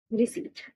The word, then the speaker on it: receipt: रिसीट की spelling में IE नहीं होता, EI होता है, RECEIPT, रिसीट, RECEIPT, IE नहीं होगा, EI होगा, रिसीट, P साइलेंट।